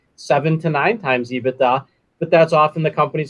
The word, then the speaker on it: EBITDA: or phrases to pronounce ibita i've heard abita ebitda ebitda right so you're the industry the beta we usually call it ebitda i mean you could